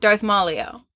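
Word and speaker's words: Darth Maleo: the front runner is Darth malio is that what it was how do you pronounce it Darth Malo cuz it's like Darth Maul and then Leo Darth Maul Leo we'll see how it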